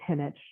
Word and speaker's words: Jinich: It's actually it's Henich.